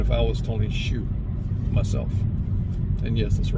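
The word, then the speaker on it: Tony Xu: And that would be priority number 1 if I was Tony Shu myself. And yes, that's the right way you pronounce his name.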